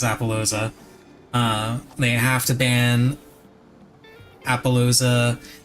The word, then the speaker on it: Appaloosa: They absolutely have to ban Apollo USA. That's how he pronounces Appaloosa.